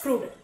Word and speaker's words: CRUD: the great operation so sometimes it may be pronounced as crude okay that is your way of pronunciation correct create read update and